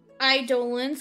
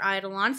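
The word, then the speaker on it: Eidolon: as idolan yep and idolan or idolon howsoever you wish to pronounce it is what they called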